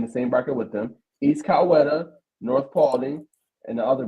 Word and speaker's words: East Coweta: If you're gonna be covering this GA team, you gotta have the pronunciation right, brother. Sure. So you say East Coweta?